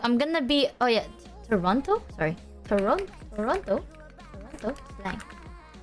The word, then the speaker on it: Toronto: Don't pronounce the second T on Toronto. Toronto.